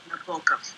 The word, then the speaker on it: Nabokov: Also, it's not Nabokov, as Devin loves to troll me with on nearly a weekly basis. It's Vladimir Nabokov. Nabokov. Nabokov.